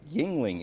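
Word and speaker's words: Yuengling: thousand this pennsylvania-based Brewing Company with an often mispronounced name is the oldest brewery in the country Yingling is correct for one thousand points uh let's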